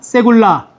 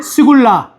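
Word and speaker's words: סגולה: 같이 발음해 봅니다. 세굴라 세라 또는 사투리로 쓰면 스굴라 둘 다 맞아요. 네. 유대인들도 사투리가 있어서 이게 세굴라 또는 스굴라고 하는데 그 어딘가에 있어요.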